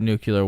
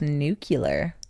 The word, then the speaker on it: nuclear: graveyard hypothetical situation yeah let's say we've entered nuclear winter and there's no food just isn't it isn't around food is stopped or starving did you say nuclear yeah so like a new nuke it's pronounced nucular really no it's not that was just a